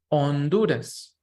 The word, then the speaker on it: Honduras: say Guatemala El Salvador remember that this H is silent so Honduras Nicaragua this letter the